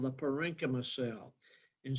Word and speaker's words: parenchyma: derived is called the parenchyma cell. And CH is K, like chameleon. You pronounce it like chameleon.